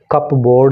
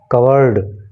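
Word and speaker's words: cupboard: यहाँ पे आपको बहुत ध्यान रखने की बात यह है कि इसका प्रोनाउंसिएशन कप बोर्ड नहीं है, बल्कि इसका प्रोनाउंसिएशन है कवर्ड, ठीक है, और अलमारी। कई बार होता है कि बहुत लोग जानते तो हैं कि कवर्ड क्या है, लेकिन उसकी स्पेलिंग नहीं जानते हैं, क्योंकि स्पेलिंग तो इसकी कप बोर्ड हो रही है ना, लेकिन कप बोर्ड नहीं पढ़ेंगे इसको पढ़ेंगे कवर्ड।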